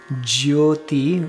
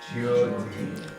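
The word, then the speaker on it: ज्योति: That Y can be pronounced a lot or hardly at all. You can say jyoti, where you're really putting the Y in there. Try that. Jyoti.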